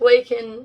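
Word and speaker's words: Laken: he came in and she bombarded him with lak Riley's name and even handed him a pin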